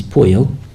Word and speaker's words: pollo: The double L is a Y sound, so chicken is pollo and street is calle, or some places calle, but if you calle, double L sound.